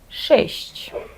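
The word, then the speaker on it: sześć: І є ще в польській мові, окрім якого ш, твердий звук ш. Наприклад, шещ. Дуже гарне слово, тому що в ньому саме є твердий, ше і м'який. Відчуйте різницю і намагайтеся правильно вимовити.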